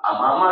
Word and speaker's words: امامہ: کہ میرے بعد آپ امامہ سے شادی کر لیجیے. امامہ زیادہ بہتر تلفظ تو یہی, امامہ الف کے اوپر یا حمزہ کے اوپر پیش ہے, امامہ, ان سے آپ شادی کر لیجیے گا.